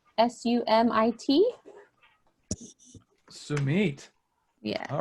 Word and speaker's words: Sumit: It came up as, I'm not going to know how to pronounce it, Sumit, S-U-M-I-T.